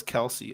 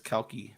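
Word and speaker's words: Kelce: Did Tom just pronounce Kelsey as Kelky twice? It's his Australian shit. He can't fucking hear. I can understand saying Kelty. If you're gonna make fun of my lisp, but Kelsey over Kelky, he's a jabroni.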